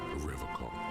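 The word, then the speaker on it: Revachol: He pronounces Revocol with a hard K, unlike other people. I like to pronounce it the hard way, the old way, the Vespertine way.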